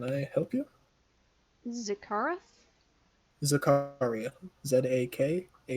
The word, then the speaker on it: Zakaria: help you zacarth zakaria z-a-k-a-r-i-a zechariah intentionally pronounced zakaria but yes he's a